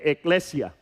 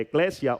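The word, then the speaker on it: ekklesia: Pero entonces, si buscamos el origen de esta eh de esta palabra iglesia, tenemos que ver que del griego viene eclesia. Se escribe con e k l e s i a.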